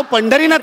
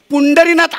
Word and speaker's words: पंढरीनाथ: एन डी म्हणजे पुंडरी अहो माझं नाव पंढरीनाथ आहे हो पुंडरीनाथ असं कोणी नाव नाही ठेवत अहो तुम्ही वाटेल ते